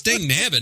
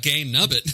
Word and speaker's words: dang nabbit: It's dang nabbit, not gang nubbit.